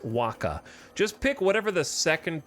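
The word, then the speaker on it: Wacha: 180 Innings pitched it's wa of course it's pronounced Waka just pick whatever the second thing that makes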